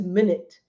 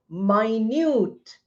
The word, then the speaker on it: minute: Hour, minute, second pronounced as minute. Now it is also minute. Pronunciation changes. Spelling does not.